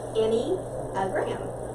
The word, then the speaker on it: Enneagram: It's pronounced Enneagram.